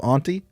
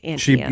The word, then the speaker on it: Auntie Anne's: The woman who created this business says it's Auntie Anne. Yeah, she pronounces it correctly. Right. I hate you. She's not a show-off snob. Most people, I think, from my neck of the woods do pronounce it aunt, but it's Auntie Anne's.